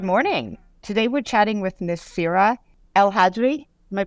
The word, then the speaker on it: Nassira El Hadri: Today we're chatting with Nassira El Hadri. Am I pronouncing that correctly?